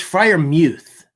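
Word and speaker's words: Freiermuth: Uh it's it's Frier Muth.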